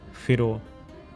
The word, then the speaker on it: whero: mind was in the pronunciation of wh, where he says wh is an aspirate as in whero, red. And they’ve also said to avoid giving it the sharp sound of F.